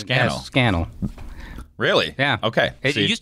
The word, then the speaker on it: Scannell: I said uh Randy skel I say your last name correctly close enough how do you say it uh think of Channel without the just put scannel really yeah okay it